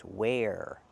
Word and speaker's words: where: It's not where, it's where. Use the air sound like hair and chair, no matter where you are.